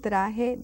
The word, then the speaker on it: traje: So it's un traje de baño. It's a bathing suit. Traje de baño. Don't lose those J's, pronunciation like an H.